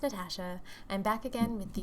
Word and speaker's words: Natasha: guys, it's Natasha, pronounced Natasha.